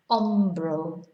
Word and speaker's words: hombro: Hombro, shoulder. So they couldn't be much more different, really. So remember not to pronounce H.